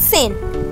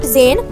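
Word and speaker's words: zehn: is called nine nine ten is called sein not zayn it's in eleven is called elf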